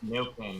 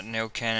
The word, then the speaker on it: Neuquén: Neuquén, yeah. Yeah, Neuquén, and we're flying the Buenos Aires Aeroparque in Norwegian, Argentina, Zibo mod, the most ass airline, the least ass aircraft.